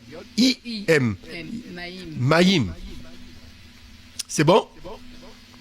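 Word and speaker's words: מים: bon ok ok alors gandalina alors l'eau c'est maim maim maim Alors la première syllabe c'est ma ma deuxième syllabe C J I Mim Maim C'est bon ?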